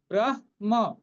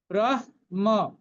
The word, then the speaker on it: ব্রহ্ম: এই দেখুন এই ব্রহ্ম উচ্চারণটা নিয়ে অনেক সমস্যা আছে, কেউ বলে ব্রহ্ম, কেউ বলে ব্রহ্ম, কিন্তু বিষয়টা সেরকম নয়। এটা হচ্ছে অর্ধেক হ পূর্ণ ম, তাহলে ব্রহ্ম, ব্রহ্ম।